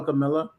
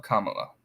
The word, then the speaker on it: Kamala: ways I call her Camila I know that song it's Kam M just just just rhyme it with Mom mamala Kamala then then you got